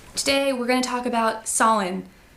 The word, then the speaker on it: Samhain: we're gonna talk about Sawin spelled like Samhain which makes no sense to me anyway so I